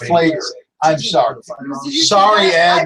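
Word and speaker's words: Pfleger: Father Flieger is pronounced Flager.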